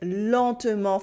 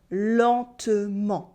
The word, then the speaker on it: lentement: And the same thing happens with the en in adverbs like lentement for slowly. Exactly the same. No n sound and no t sound either. It is lentement.